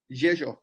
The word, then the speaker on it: Rzeszów: whenever I speak to Polish people, I always pronounce it wrong. Rzeszów. Rzeszów, Rzeszów.